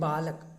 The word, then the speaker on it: बालकः: विसर्ग अब हिंदी में हम बोलते हैं बालक, लेकिन जब संस्कृत में इसका उच्चारण करते हैं तो बालकः, छात्रः, पिकः, उसका उच्चारण ह हो जाता है।